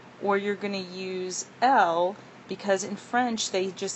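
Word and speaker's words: elle: and that would be L. And notice you don't pronounce the last letter.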